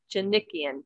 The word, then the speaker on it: Djanikian: Djanikian.